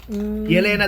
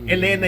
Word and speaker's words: Yelena: si ano si yelena yelena daw kasi siya sa Russian e kaya yelena ako ng yelena eh Elena Yung pronunciation pero yelena daw eh so yun so